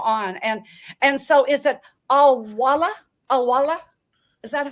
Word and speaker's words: AI Wala: And so is it Awala? Awala? Is that how you say it? AI Wala. It is AI, like artificial intelligence, and Wala, AI Wala.